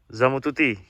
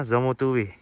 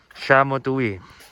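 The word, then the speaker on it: Szamotuły: Zamututi, kelihatannya kan? Tapi yang benar bacanya Zamutuwi, Shamotuwi.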